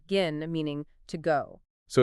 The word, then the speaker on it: gehen: The general rule is that when H directly follows a vowel, it's usually silent, like in the word gehen, meaning to go. So it's not pronounced gehen, but rather gehen.